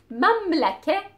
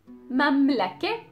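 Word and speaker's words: مملكة: the cake the calf if you had the K letter before the team or Buddha before the Circle T then the pronunciation of the Circle T is going to be an A as well let's see some examples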